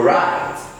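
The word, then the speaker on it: write: our next word is right first W is a silent letter in this word and letter e is also a silent letter so e will have an effect on E to be pronounced as I so looking at this place the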